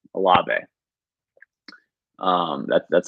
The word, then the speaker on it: Olave: so it's a so the e is like it has an accent on it a lobby um that's that's how